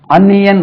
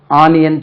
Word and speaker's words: onion: இதுக்கு அன்னியன் உச்சரிப்பு, அன்னியன், அன்னியன், அன்னியன், அன்னியன். இது ஒரு கேரளாவில் ஓனியன் சொல்றாங்க, நம்ம ஆனியன் சொல்றாங்க. இது ஆனியன் அல்ல, அன்னியன், அன்னியன், அன்னியன், அன்னியன், ரைட்.